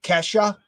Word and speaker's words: Kesha: So she just spelled it Kesha. So am I saying it right? Kesha? Is it Kesha? Is it Kesha? Like the performer, the artist, Kesha?